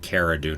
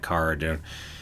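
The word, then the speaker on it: Cara Dune: back with me pronouncing i'm sure i've said cara dude numerous times instead of car dune horrible mispronouncing names dang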